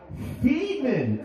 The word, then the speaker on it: Feeman: Thank you, I'm Feeman. Alright, correction on the name, because you know I'm African American, so I automatically think slavery, so I think of being free. But his name is actually Feeman, F-E-E-M-A-N.